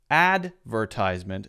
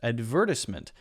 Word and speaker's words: advertisement: you spell it right in American English if you say that advertisement the first syllable is stressed advertisement and it's a ties sound you might hear in British English more often a stress on the second syllable so adver adver and then instead of a tiesment maybe advertisement advertisement advertisement to cement so there's an S sound instead of a z sound but I think the